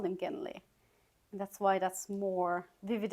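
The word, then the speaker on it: Genly: So they can't pronounce the L. That's interesting. Genley.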